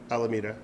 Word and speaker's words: Alameda: How do you pronounce it? Alameda or Alameda? Alameda. Alameda. All right, ball five.